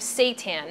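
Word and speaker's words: seitan: be made out of Satan now Satan let me just explain what that is first of all it's spelled s e t an I know it sounds like something else but it's actually wheat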